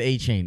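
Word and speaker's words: Achane: but aan uh Hey the Texas A&M fans said that they were pronouncing an H the whole time so they all were everybody said a chain okay and it's cool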